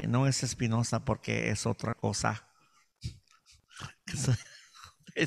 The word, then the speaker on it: Espino: the last name is Espino, Espino. And if you speak Spanish, I always say, no es Espinosa porque es otra cosa.